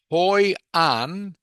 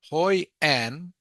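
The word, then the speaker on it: Hội An: And the example is hoan. Hoy an is quieter or more quiet than Ho Chi Min City. So Hoyen. Okay, Hoy and is actually just one syllable. Two names but one syllable.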